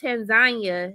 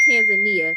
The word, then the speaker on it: Tanzania: Also, it's Tanzania, not Tanzania. Because they will also laugh at you when you say this in Tanzania. Yes. And they laugh at me and they're like, "You American, it's Tanzania. It's not Tanzania.